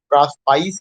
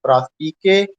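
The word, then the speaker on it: Prospice: कुछ लोग इसका प्रोनाउंसिएशन प्रास्पाइस करेंगे, लेकिन प्रास्पाइस नहीं करना है। The correct pronunciation is प्रास्पिके and that is in Latin and it means to look forward, आगे की ओर देखना।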